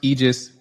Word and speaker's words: Aegis: sure everybody can find you guys um it's pronounced aegis malpractice solutions but it's spelled a e g